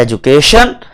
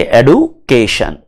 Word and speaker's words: education: British English के अंदर हम कहते हैं एजुकेशन, अमेरिकन इंग्लिश में हम कहेंगे एडुकेशन। कहीं एजुकेशन है, कहीं एडुकेशन है।